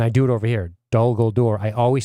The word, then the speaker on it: Dol Guldur: In fact, if I did this instead, when the Guldur, I said it wrong, Dol Guldur, I always flip-flop it.